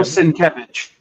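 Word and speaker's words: Sienkiewicz: Bill Sinkevich.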